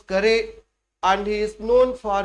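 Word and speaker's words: Carew: his poem through beauty but he is pronounced as thomas curry and he is known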